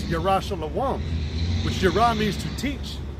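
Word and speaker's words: ירושלים: It says, "Run ye to and fro through the streets of Jerusalem," which the word Jerusalem in the Hebrew, which is the proper way to say it, it's Yerah Shalom, which Yerah means to teach, and Shalom means of peace.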